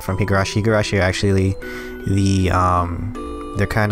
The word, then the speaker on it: Higurashi: at Higurashi like it I just feel like you're saying hey gurashi Higurashi is not the place if you're new I've been saying it wrong hey yo she's not